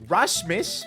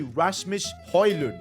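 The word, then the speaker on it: Rasmus Højlund: rashmus by the way I've been saying his name wrong for the entire time so far and you guys in the comment section let me know that so his name is actually Rasmus hoyland hopefully I'm saying that right and I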